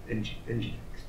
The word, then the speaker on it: Nginx: Is it NGINX?